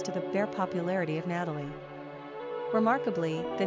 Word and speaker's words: Natalee: Pronunciation, Natalie.